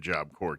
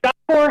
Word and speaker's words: Job Corps: And Job Corps has an S at the end, so it's JOBCORPS.gov. Yeah, it's silent when you say it, but it's not silent when you spell it.